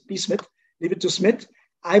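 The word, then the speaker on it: Psmith: called leave it to smith where the p is silent p smith leave it to smith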